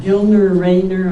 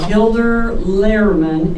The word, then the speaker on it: Gilder Lehrman: through Humanities Kansas, and I guess I got it Gildner Rainer. I'm supposed to always say it, I don't say it right, but Gilder Lehrman, Institute of American History.